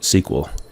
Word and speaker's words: SQL: A DBMS accesses data in a database using structured query language, or SQL, which is pronounced SQL.